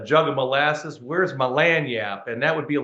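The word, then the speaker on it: lagniappe: lanap but uh um it's spelled it looks like it should be pronounced langen nippi um but when when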